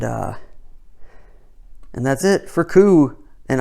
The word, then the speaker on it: Coup: and that's it for coo and i wonder how many times i said coop in this video i probably did at least once because that silent p gets me every time but that's it for